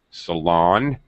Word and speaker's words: salon: Be careful because there's two words, salon and saloon, which are two Okay. different things.